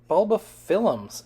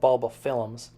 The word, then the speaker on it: Bulbophyllum: And I do want to mention that it's Bulbophyllum, not Bulbophyllum. You know, there seems to be a lot of leeway in the names, in the pronunciation of the names that we give our orchids, but for whatever reason, Bulbophyllum is one of the ones that you'll get your hand slapped if you say it as Bulbophyllum instead of Bulbophyllum.